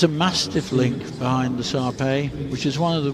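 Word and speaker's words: Shar Pei: days one of the surveys most distinctive features a truly grisly feel to that coat and it is pronounced survey the H is silent at least that's what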